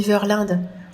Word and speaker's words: Verlinde: notre cher père verlind oui on dit verlind le le père verlind prononce lui-même comme ça son nom oui c'est belge alors le père verlind